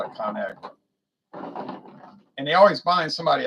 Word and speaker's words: ConAgra: And like they were saying, well, it should be ConAgri culture, right? But they said they thought it would sound strange for people to pronounce it, so they changed it to ConAgra.